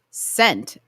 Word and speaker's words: scent: So, which letter in the word scent is the silent one? The C. By what reasoning?